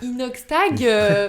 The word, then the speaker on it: Inoxtag: ça, enfin, genre par exemple, Inoxtag, je le connais pas vraiment, mais je Déjà, sais tu qu'il est. prononces très mal son prénom. Non, j'ai bugué. Inoxtag, c'est comme ça qu'on dit.